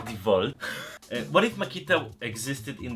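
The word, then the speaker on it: DeWalt: It is pronounced Devolt.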